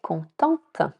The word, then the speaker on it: contente: Exemple : Il est content (masculin, le “T” est silencieux) Elle est contente. (féminin, + “e” il faut prononcer le “te”) Donc, continuons avec les conseils pratiques.